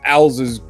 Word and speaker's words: Elza: And you see him stood in front of Elsa's grave. And it has ELZA, right? As it is pronounced, Elsa!